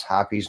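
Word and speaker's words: Hoppe's: Gun Expert, who doesn't know how to pronounce Hoppy's number 9 because it's Hope numbers 9 with 2 P's is the way he pronounced it.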